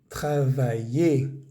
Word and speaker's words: travailler: Veamos que todos estos verbos terminan en ER. Grupo 1, no pronunciamos esa R. Encourager, éclater, travailler, jouer. No es jouer, ni travailler, ni éclater.